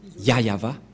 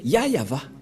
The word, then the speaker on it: Yahvah: voit rien et donc c'est bien la fr prononciation de son nom yayava voilà le ya et voilà la suite après y yava voilà et vous voyez bien que c'est bien son nom d'invocation qui est yayava donc voilà le nom du dieu d'Abraham il